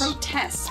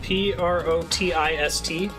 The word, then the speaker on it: protist: Protest, I thought. Protist? I thought it was T-E-S-T, protist. No, I think it's protist.